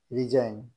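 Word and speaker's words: resign: আর ই এস আই জি এন রিজাইন, এটা কিন্তু জি উচ্চারিত হলো না। ইংরেজি সঠিক উচ্চারণ, যেমন এখানে এইচ সাইলেন্ট থাকবে, অর্থাৎ এইচ উচ্চারিত হবে না।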